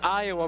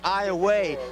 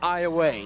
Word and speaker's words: Iowa: but it's actually pronounced Iowa. Now it's spelled the same way as Iowa, but it is pronounced Iowa. Correct, spelled I-O-W-A, but pronounced like you said, like far away, Iowa.